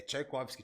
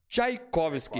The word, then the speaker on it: Czajkowski: É Tchaikovsky, Thiago. Tchaikovsky. Igual Cara, o mestre russo.